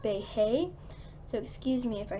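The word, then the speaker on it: Beje: lived in debate bake a house I usually pronounced big beige a house but I looked it up and it's actually like Bay hey so excuse me if I hesitate then the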